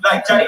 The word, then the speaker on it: Gianni: Like Gianni Versace, but Sanchez.